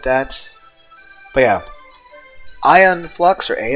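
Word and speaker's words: Aeon Flux: actually spell it because the pronunciation of it does not because if I'm going to say ion flux you're going to think IO in no that's not how it's spelled a e o n and then the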